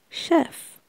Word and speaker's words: chef: attendant flight attendant chef it's pronounced like in French chef Baker Baker Baker artist